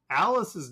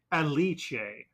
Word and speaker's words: Alice: Discord who said that according to the romanization Alice's name is not actually pronounced Alice it is pronounced the Italian way aliche so uh all of